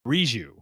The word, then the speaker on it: Riju: Pronunciation for Riju is Riju.